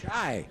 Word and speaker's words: Shai: good to see you Shai Shai Shai right how do you spell that sh sh I I nice now you are not shy great name very nice